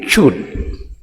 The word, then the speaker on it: chewed: So without ed, it is chew. But after ed, chewed. Just the e is not read. The e is silent.